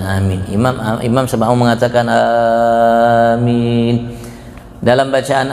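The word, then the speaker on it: آمين: dalam salat antara ulama Bagaimana cara membacanya Apakah alifnya dipanjang ataukah alifnya di pendek Apakah mimnya atau tidak Itu yang utama pendapat yang paling kuat yang paling banyak diungkap oleh para ulama itu alifnya dipanjang alifnya panjang mim-nya itu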